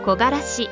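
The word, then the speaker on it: 木枯らし: 答えは木枯らしという字です。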